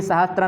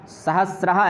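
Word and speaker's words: सहस्रः: एक तो आप उच्चारण से पहचान सकते हैं, इसमें सहस्त्र में कभी सहस्त्र नहीं होता, सदैव ध्यान रखिएगा। चतस्रहा, तिस्रहा, तो कभी वहाँ पर त्रा नहीं होता है, सहस्रहा ऐसा ही होता है, चतस्रहा तिस्रहा यही होगा सदैव, यह बात ध्यान रखिएगा।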